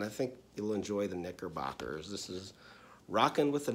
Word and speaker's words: Knickerbockers: So I'm starting off with my K, and I'm going to use a silent K because I'm going with the Knickerbockers for my K.